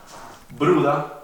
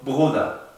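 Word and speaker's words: Bruder: Por eso, si veríamos los casos que les expliqué antes, Bruda no sería Bruda, sino Bruda, con una B, G, Bruda.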